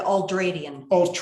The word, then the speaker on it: ultradian: You go ahead and say the ultradian. Ultradian. Yes, spell it.